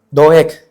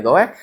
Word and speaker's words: Doeg: Doeg. Sí, ¿verdad? Sí se pronuncia así la G. Doeg. ¿Cómo? Doeg. Tiene una G al final, hermanos. Doeg, yo creo.